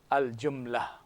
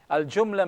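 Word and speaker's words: الجملة: this as Al and they replace this t with an H sound a silent h so we say Al jumla Al jumla means the sentence Al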